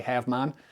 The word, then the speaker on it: Havemon: You're going to say Havmon." And I was like, "Yeah." He goes, "Spell it."